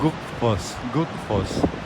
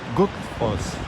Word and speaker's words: Gullfoss: Like it's written like Gullfoss, but the double L, the Icelanders pronounce like all together, but a little bit inside of your throat. So Gullfoss, Gullfoss.